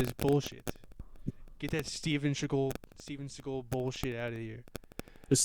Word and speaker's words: Seagal: Get that Steven Seagal bullshit out of here. Just Steven Seagal. I will. You don't know who Steven Seagal is? Are you serious? No, I said that because you said Chagall. Seagal.